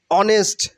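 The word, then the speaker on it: honest: okay timid timid timid অনেস্ট অনেস্ট অনেস্ট নট হনেস্ট নট অনেস্ট অনেস্ট অনেস্ট অনেস্ট H will be silent hair skip here অনেস্ট অনেস্ট অনেস্ট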